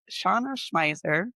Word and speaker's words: Shauna Schmeisser: Her name is Shauna Schmiser. Yes, pronounced it right?